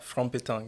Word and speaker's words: Franc Pettang: Yeah, it's depend on the accent. Yeah. Now you have American accent, you have to say Frank.